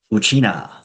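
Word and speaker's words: ウチナー: The pronunciation is exactly the same as how Ryukyu people refer to themselves as Uchina.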